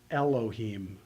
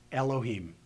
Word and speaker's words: Elohim: hear very well well Olive since it is silent anyway has has a tendency sometimes to completely lose its consonantal value and to not be heard at all so if you take